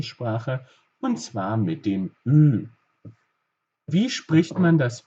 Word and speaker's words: Ü: Auch hier müssen wir wieder einen Kussmund machen. Seht es euch bitte kurz an. Ich bilde euch das Ü. Ü, Ü. Also, wir machen einen Kussmund in etwa so. Hier eine Kreisform. Und der Ton geht wie folgt raus.